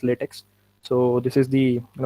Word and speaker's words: LaTeX: so first of all we should know that the pronunciation is latex now we don't call it as latex so this is the